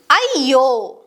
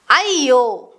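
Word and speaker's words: ಅಯ್ಯೋ: Ya is pronounced as a double ya sound like in ayyo, ayyo, or ayya, ayya, which is an explanation or sometimes added to names.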